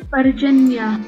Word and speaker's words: Parjanya: Parjanya. Ok, pues sí, más o menos asumía que esa J era como una Y.